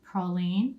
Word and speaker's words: praline: southern favorite confection and yes we do pronounce it praline in south louisiana so the cookies are